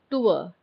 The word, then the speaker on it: tour: Remember, just pronounce the word tour. Tour. Usually हम गलत pronounce करते हैं, tour बोलते हैं. It is not tour, it is tour. R is silent and tour.